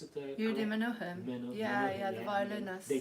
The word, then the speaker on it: Menuhin: Do I pronounce it? Yehudi Menuhin.